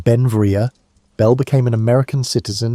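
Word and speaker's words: Beinn Bhreagh: Pronounced Benvia, Bel became an American citizen in 1882, but his name, meaning beautiful mountain in Scottish Gaelic, showed his Scottish heritage.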